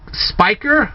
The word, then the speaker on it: Speicker: out to spike Spiker I believe that's how your name is pronounced Spiker and if it's